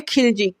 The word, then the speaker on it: खिलजी: इस correct spelling है खिलजी, KHILJI, खिलजी। खालजी जो है वो मिसप्रिंट हो सकता है, क्योंकि इसका प्रोनाउंसिएशन खिलजी ही होता है।